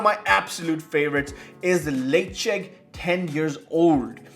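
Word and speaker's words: Ledaig: czech 10 years old now if you're wondering what i'm saying it's spelled l-e-d-a-i-g and yes i spent many months many months early on in my whiskey in my whiskey career asking for the for a la tag hey can i get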